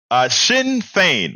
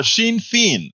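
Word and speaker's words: Sinn Féin: But it's same phonetically. Sinn Fein, but I said Shawn Fain. Oh, Sinn Fein.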